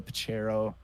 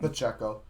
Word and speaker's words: Pacheco: touchdown an interception um Isaiah pachero or Pacheco um excuse me if I said his name wrong Pacheco I'm pretty sure he